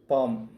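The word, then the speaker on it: palm: அதுவும் இல்லாமல் இங்கே ஒரு சின்ன ரூல் சொல்கிறேன், பிஏஎல்எம், பாம் அப்படின்ற இந்த எல் வந்து ஆக்சுவலாக வந்து நம்ம உச்சரிக்கக்கூடாது. பிஏஎம், பாம் அப்படின்னு தான் உச்சரிக்கணும்.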